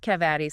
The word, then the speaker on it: cavity: A cavity, that's a hole from decay, pronounced cavati sometimes in the U.S.